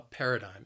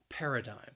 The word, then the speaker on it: paradigm: it's a noun and it has three syllables and the stress is on that first syllable paradigm that second syllable again it has that schwa sound but i think that final syllable that that igm that spelling can throw people off a little bit that third syllable i'm paradigm then we have